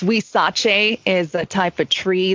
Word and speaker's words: Huizache: your journey into cheese making right so it's we Sachi is a type of tree that grows prolifically